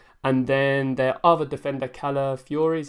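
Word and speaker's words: Kiwior: won't be playing and then the other Defender k Fury is how you pronounce it he come off during the Europa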